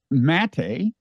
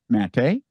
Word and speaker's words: Maté: podcast you're a gobbler mate actually probably a commonly mispronounced name I would think don't a lot of people say mate and it's really mate actually the people um